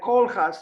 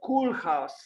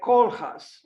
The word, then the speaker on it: Koolhaas: And I think she said something like Koolhaas, not Koolhaas, like in English, Cool, because this is not in English, it's in Dutch, like Koolhaas, Rem Koolhaas.